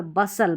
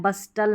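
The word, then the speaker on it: bustle: जाएगा जो यहां पर बसल बसल पढ़ना है बस्टल नहीं टी जो है यह साइलेंट है लास्ट में यह कॉम्बिनेशन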